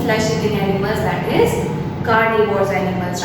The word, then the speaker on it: carnivores: It is not like that herbivorous, carnivorous, omnivores. No, this is a wrong pronunciation, right? So we need to speak herbivores, carnivores and omnivores.